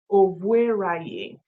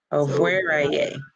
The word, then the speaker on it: Ovueraye: So it is Ovueraye. Ovueraye. The E is the phonetic E, as in A, and A is A, ra, and ye.